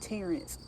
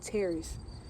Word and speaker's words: Terrace: We say the name wrong, right? We call it Terrence. Who in their right mind named this Terrence? This is not called Terrence. It's called Terrace.